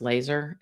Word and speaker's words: Lazar: And last week I had said Lazar, it's actually pronounced Laser, l a z a r.